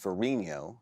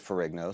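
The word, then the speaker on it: Ferrigno: Of course, his name should be pronounced Finho uh the Italian way. He is of Italian descent. Uh but he pronounces it furo, so I'm happy to uh call it Furo. an Americanized pronunciation.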